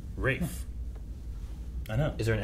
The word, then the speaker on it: Ralph: performed stuff ra fines Rafe okay ra fines Ray fines yep wait a minute how' you spell it it looks like Ralph but I believe it's pronounced ra findes Rafe I know is there